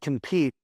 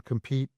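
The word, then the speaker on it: Kompyte: So like as an example, there is a tool called compete. It's spelled with a K. K O M P Y T E.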